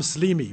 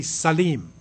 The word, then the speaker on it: Slim: Salim okay so they this looks like slim you would say Slim in English but it's really Sim like his name he's Mar he says Simi right so this caros Sim he's a Christian he's